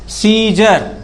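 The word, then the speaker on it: scissors: बताओ सी साइलेंट है कि नहीं साइलेंट है। हमने लिखा SCESSOR, सीजर, क्या पढ़ते हैं इसको, सीजर।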